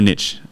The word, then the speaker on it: niche: Still keep it the same, but pivot it into a more specific niche, or niche, as they say over here. I say niche.